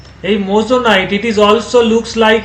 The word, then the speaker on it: moissanite: আরেকটা আমি material draw করছি, দিস ইজ কল্ড MOI, লিখে রাখতে পারো, MOISSANITE, কি বলে উচ্চারণটা? মোজোনাইট, আন্ডারস্ট্যান্ড?